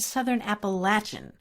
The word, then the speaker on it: Appalachian: Now, notice I said Southern Appalachian, which is the way you pronounce it in that part of the country.